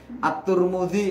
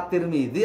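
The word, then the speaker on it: الترمذي: Misal nih, At-Turmudi apa At-Tirmidzi apa At-Tarmidzi. Itu tiga-tiganya bisa itu Mbak.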